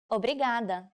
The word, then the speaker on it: obrigada: you are a woman you should say Obrigado obrigada when someone thanks you how should you answer